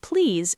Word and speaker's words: please: The word please should have a clear Z sound at the end, not an S.